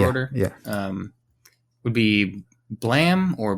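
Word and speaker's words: Blame!: yeah um would be blam or blame uh it's I think it's spelled blame but I think it's said blam like a gunshot it's by suomu ni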